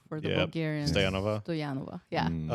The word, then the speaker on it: Stoyanova: stanova stanova stanova yeah for the Americans stanova for the bulgarians Stova stanova yeah I like that more Stova yeah okay I'll pronounce it like that I've been pronouncing it